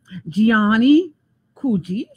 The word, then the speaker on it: Giannie Couji: So tonight I have Giannie Couji.